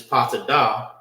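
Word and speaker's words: פטדה: Now, topaz, which is patadah, right? That's how you say that in Hebrew.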